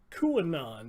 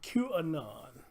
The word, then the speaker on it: QAnon: Taylor Coleman hey y'all see where I got cunan that's how they pronounce it Q Anon he's the strong believer